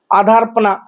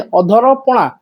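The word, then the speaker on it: ଅଧରପଣା: यही तो नहीं है आधारपना आधार नहीं अधपणा उसका मीनिंग बदल जाएगा कंप्लीटली बहुदा यात्रा बहुदा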